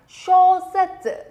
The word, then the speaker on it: 小説: Các bạn nhớ nhá, cái âm shō này chúng ta đọc nặng lên một chút chứ đừng đọc nhầm thành âm shō. Âm shō này là sai nhá. Shōsetsu là sai. Shōsetsu, cong cái lưỡi lên.